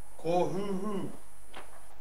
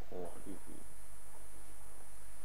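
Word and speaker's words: Kōhūhū: Kō Huhu. How do you spell it, I mean, sorry? K macron O, H macron U, H macron U. Kō Huhu.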